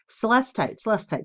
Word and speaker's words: celestite: Celestite, that's how you say it.